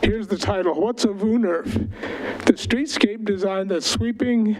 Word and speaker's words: woonerf: Again, that's pronounced WOONERF. It's a Dutch word.